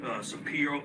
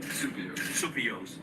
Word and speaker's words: Supios: Nick Supio, I'm sorry, I mispronounced your name. Supios.